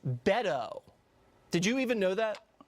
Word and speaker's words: Beto: wrong from the jump it's Beto O'Rourke not bado it's Beto did you even know that I did I was on committees with Beto and he Beto decide whether or not